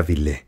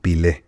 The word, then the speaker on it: Bilé: Dico en ese tiempo mi ídolo era bilé portero del Vasco da gama Pero yo lo pronunciaba mal diciendo algo así como pile y de ahí me apodaron Pelé por el que hasta